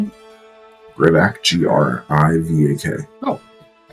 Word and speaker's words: Grivak: How do you spell it? Grivak, G-R-I-V-A-K.